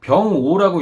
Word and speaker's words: 병오: 자, 요것은 이제 병오라고 읽는 것이에요.